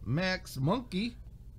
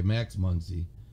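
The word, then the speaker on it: Max Muncy: Ryan Presley Houston Corey Seeger Brendan Rogers Colorado Max monkey and Mookie Betts massive monkey well how do you say it okay Max Muncie it's a c though I thought Caesar go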